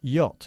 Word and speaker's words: yacht: Por cierto, pronunciamos yate en inglés yacht. Yacht. No yo, yacht.